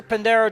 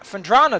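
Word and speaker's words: Phendrana: do this you can also miss welcome to pandero drifts oh no it's fendra fendrana drifts wow i got that name wrong lots osama's rock animation just blows oh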